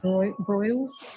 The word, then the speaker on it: Broyles: So just so you know, I this person, Jason Broyles, is how you pronounce his last name.